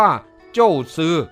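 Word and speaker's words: 祖師: สืบ ซึ่ง หมาย ถึง จีน แต้จิ๋ว ออก เสียง ว่า โจ้ซือ คือ บูรพาจารย์ มา ประสาทพร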